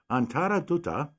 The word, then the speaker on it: Antara Dutta: Ladies and gentlemen, we're speaking with, and she taught me how to say this, so I think I'll get it right, Antara Dutta, who's the CEO. Was that good? That is very good.